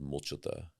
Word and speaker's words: Mulchatha: It's called Mulchata. It's spelled Mulchatha.